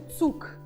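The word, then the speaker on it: Zug: от молодець класна вимова але ми напишемо його цю г а прочитаємо цук Та ніби к звучать в кінці так До речі така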